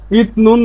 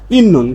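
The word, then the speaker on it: 있는: কুন নাদা আবার ইতনুন ইতনুন না হয়ে সঠিক উচ্চারণ হচ্ছে ইন্নুন কারণ এ ত ধ্বনির একটা বর্ণ পাইছি বর্ণ পাওয়ার পরে নিউন পাইছি।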